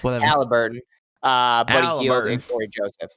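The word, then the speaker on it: Haliburton: I'm going to say his name wrong because everybody's giving me shit. No, it's Halliburton. Halliburton, Buddy Hield, and Corey Joseph.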